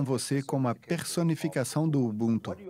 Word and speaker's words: Ubuntu: Na nossa língua, o Kirundi, o T, nós não pronunciamos, diremos Ubuntu.